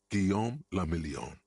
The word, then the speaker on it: Guillaume Lamillion: Guillaume Lamillion. If it doesn't rhyme, you're not pronouncing it.